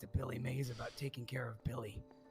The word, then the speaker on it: Mays: Billy Mays? Yeah, that's maize spelled like corn.